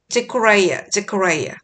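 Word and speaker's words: Zechariah: 자, 이름을 영어식으로 읽어줘야죠. 아벨, AB의 에이볼 이라고 읽고 스가랴를 제코라이아. 그 다음에 바라기아를 베라카야. So from the blood of righteous Abel to the blood of Jerokiah, son of Berechiah.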